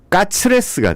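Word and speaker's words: カツレツ: 일본의 발음 체계상 이 커틀릿이 발음이 안 됩니다. 그러다 보니까 일본식으로 발음을 해보니까 커틀릿이 까츠레스가 되는 거죠.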